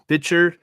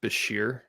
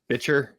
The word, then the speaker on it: Bichir: Can I assume that you were referring to Oscar nominee Demian Bichir? Bichir, yep, that's who it is. Not yes. Bitcher?